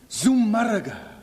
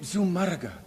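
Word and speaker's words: Zumárraga: Bishop Zumaraga. Bishop Zumaraga. Z U M A R R A G A with the accent on the U. Bishop Zumaraga is appointed the official protector of the natives.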